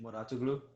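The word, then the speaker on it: Mouratoglou: Patrick Moratoglu.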